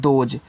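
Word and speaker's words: those: एच ओ एस ई देखो इसको पढ़ते हैं दोज तो टी एच से आपका यहां पे द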